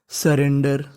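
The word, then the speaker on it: surrender: अगर आपको इंग्लिश में कहीं पर ER लिखा मिले तो उसे पढ़ना होता है अर, और बीच में हमारा आर 2 बार लिखा है तो उच्चारण खाली 1 बार करना है, तो मीनिंग बनी हमारी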